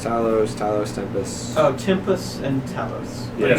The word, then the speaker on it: Tempus: in here I think one is like the Tempest TS Talos tempus oh tempus and Talos you said tempus I like said